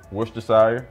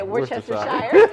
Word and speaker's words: Worcestershire: what I'm saying so Worcestershire Just a Touch oh that's how you say it yeah I'd always say Worchester Shire she's from the